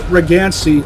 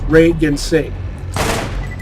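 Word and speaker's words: Rei Ginsei: How do you get Regancy out of Reagan say? Regancy is a cool sounding name, but that's not the character's name. His name is Reagan say.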